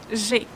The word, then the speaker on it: j'ai: Make sure you pronounce it in the same way with this E like smile. J'ai, because it's closed E.